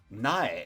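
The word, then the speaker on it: 苗: seed needs to grow Nai is specifically the pronunciation used when talking about a Seedling as a noun not is how it's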